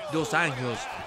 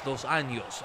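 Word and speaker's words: dos Anjos: qu ahí de jafi dos años dos años así se pronuncia es portugués falas portugués Carlos no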